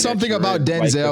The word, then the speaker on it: Denzel: Well, remember we found out about like his name, how you pronounce it? It's Denzel. It's Denzel.